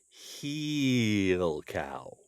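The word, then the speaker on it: hill cow: Really, it is spelled like hill, Hill, hill, when it is spelled out, except it never is. Heel cow. Heel cow.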